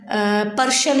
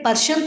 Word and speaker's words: प्रश्न: जैसे अब पर्शन है, हम बेटे पर्शन तो नहीं बोलते ना, हम क्या बोलते हैं? प्रश्न।